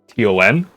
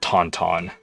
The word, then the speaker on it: Taunton: There's one place in Massachusetts called Taunton, and it's spelled Taunton. So it's saying like taunt and then on. It's not tauntaun, but it's a lot of fun to say tauntaun.